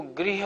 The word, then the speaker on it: गृह: और ग्रह माने हैं ग्रह शनि राहु केतु आदि उसको ग्रह बोलना है इसको गृह बोलना है कि थोड़ी बात का